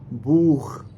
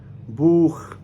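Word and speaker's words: Buch: देखें, अगर किसी स्टेटमेंट के अंदर या किसी वर्ड के अंदर ए यानी कि आ, ओ, ऊ और आओ, इन चारों के बाद अगर कहीं पर सी एच आ जाए, देन सी एच का साउंड होगा जिस तरह से हम इस वर्ड के अंदर सी एच को साउंड देते हैं। तो क्या होगा वो साउंड? ख।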